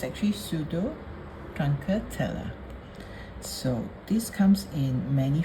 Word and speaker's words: Pseudotruncatella: This Lithops is a bit difficult to pronounce. It's actually Pseudotruncatella.